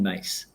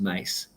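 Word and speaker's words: Myss: that I've learned from a woman named Carolyn mace and uh spells MSS but pronounced mace okay and what this looks into is for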